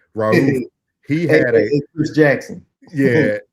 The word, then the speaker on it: Mahmoud Abdul-Rauf: The basket Sheriff No no no no no uh It ain't Sheriff. It's it's um um Mahmoud Abdul-Rauf. That's it. Raouf.